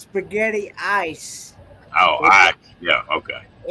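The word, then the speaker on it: Spaghettieis: cold i don't have to try that roy spaghetti eel what the heck that's actually pronounced spaghetti ice oh i yeah okay it's actually have you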